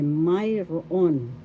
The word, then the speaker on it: mayroon: Or you could say mayroon, have or property. First syllable may, second syllable ro, third syllable on. The first accent is in the first syllable.